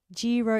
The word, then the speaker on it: gyro: So like see the G is soft. It's a silent G. Silent is a better word than soft. Gyro is acceptable though.